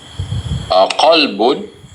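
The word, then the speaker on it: قلب: Is there difference? Yes. Yes. But some of the English speaker, they make mistake. This is kalbun. This is qalbun.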